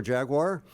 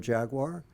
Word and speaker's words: Jaguar: to pronounce the name Jaguar that was thrown in for free. I choose to make it a 2-syllable word as opposed to a 3-syllable word.